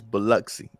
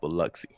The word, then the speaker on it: Biloxi: it i never know uh but uh it's biloxi i know oh really okay yes i don't know why the og are you it's mississippi we'll just go with it but uh yeah it's cool it's pronounced biloxi you get you getting into uh you getting